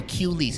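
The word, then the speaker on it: Cuelees: spelled Q c-u-e-l-e-e-s so Q lease it's basically like clueless but replace one of the s's with an e and you should be fine so Q leads they're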